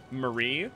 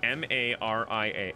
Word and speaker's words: Maria: I had a community member named Marie, like M-A-R-I-A. Or, I can't. That's Maria.